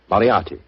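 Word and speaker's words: Moriarty: I'm afraid I'll have to begin calling it the way it looks. M O R I A R T Y. Moriati. Moriati.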